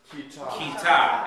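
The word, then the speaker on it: כיתה: Kita. Accent on the second syllable.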